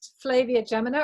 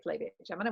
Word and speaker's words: Flavia Gemina: So here's Flavia Gemina, or you might say Flavia Gemina, but I say Flavia Gemina, which is the American pronunciation.